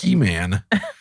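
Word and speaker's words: Heman: and of H hean I don't know why I was struggling with pronouncing it it's He-Man and of jedan who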